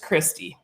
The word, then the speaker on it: Christie: And just so you know, my name is just Christie. No N. Just Christie. It's spelled all right except for that N. The N is silent in her name.